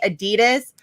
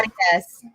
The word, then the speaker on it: Adidas: here we say Adidas, but everywhere else, like in Europe and Other countries, yeah. Adidas.